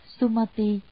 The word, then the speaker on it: Sumati: Nước Cực Lạc, nguyên âm tiếng Brahma, Ấn Độ đọc là Sumati, tức Tu Ma Đề.